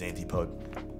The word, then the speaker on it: Antipode: pronounce the last part is it pod am I saying that right poet antipode is that how you say it yes or no rhymes with fancy toad okay then it is antipode all right there you